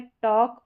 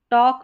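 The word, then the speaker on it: talk: टॉक में L silent है। वॉक में। यानी एल के बाद में जब के आ रहा है तो एल यहां पर साइलेंट रहता है।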